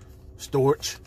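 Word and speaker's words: storge: It's called, pronounced storch.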